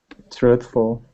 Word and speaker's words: truthful: Truthful. Yeah, it's just the consonant cluster with the THF.